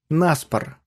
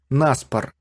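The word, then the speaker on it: на спор: что человек может сделать нас пор обратите внимание на ударение во фразе нас пор она приходится на предлог на что довольно нетипично для русского акцент на предлог можно встретить довольно редко начнем с анекдота как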